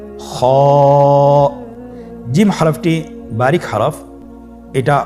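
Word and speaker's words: خ: same আকৃতির আরেকটি হরফ সেটা হল খ সে হরফটির নাম হল খ দেখতেই জিম হর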